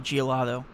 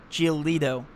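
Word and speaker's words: Giolito: i like geo geolito i keep on saying geologo geolito is my favorite gbp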